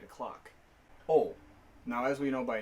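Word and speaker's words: を: Yes, this character is pronounced wo, as in W-O, but when it's a particle, it's pronounced o.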